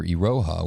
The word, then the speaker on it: Iroha: do not get the same value hyper ledger Iroha was initially contributed by saw remit su NTT DATA and colu it is pronounced as Iroha next we come to sawtooth